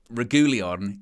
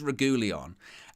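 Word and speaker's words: Reguilón: there's actually two there's there's two pronunciations that he says in there he says regulion and then he says rajulian got kg you're making me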